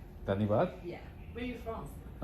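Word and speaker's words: धन्यवाद: Dhanyavad. Danibad?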